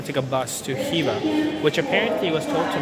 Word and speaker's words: Khiva: made it to Khiva, apparently that's how it's pronounced, Khiva, not Khiva, as I said earlier in the airport.